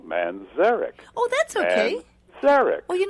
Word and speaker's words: Manzarek: player of the doors you put the accent on the second syllable Manzarek oh that's Derek well